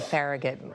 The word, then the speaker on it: Farragut: Sam, am I pronouncing Farragut correctly? I'm not from DC. Okay. Yes, it's a Farragut Metro.